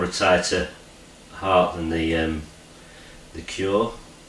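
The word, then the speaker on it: Cuore: A little bit more a tighter heart than the Cure. I think it's Cure anyway. It's spelled C-U-O-R-E.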